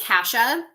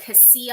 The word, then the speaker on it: Kasia: My name is Kasha, but like people can't freaking say Kasha because it's spelled like Kasia. So I get like Cassia and I get like all this other fucking shit.